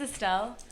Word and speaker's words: Estelle: Okay, so my name is Estelle. Oh, Estelle. It's Estelle? Estelle. Estelle. I feel like E or A? It's E. But like people speak different languages. They pronounce it differently, so I'm used to like people getting it.